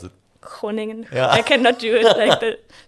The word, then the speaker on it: Groningen: How do you pronounce it? Groningen.